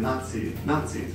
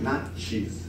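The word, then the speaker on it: ナチス: It's Nazis. And whenever I hear that, I just want to hear like nacho cheese, not cheese.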